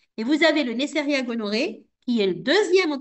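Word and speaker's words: gonorrhoeae: Donc Nesseria gonoc gonoqué, je sais plus comment ça se prononce. Gonoré.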